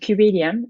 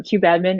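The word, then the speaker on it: kubeadm: block um so there's this project called cubadiem or you know cube admin or qdm atom depending on what your kubernetes pronunciation game is but it is another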